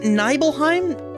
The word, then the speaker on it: Nibelheim: i don't is it nibbleheim is it mount nibal that sounds right but mount nibble n-i-b-e-l but nibbleheim sounds better than nibelheim maybe it's one